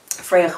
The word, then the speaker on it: Fraoch: so much for your interest in in fragments Freya by the way is the way you pronounce it I know Sam had difficulty so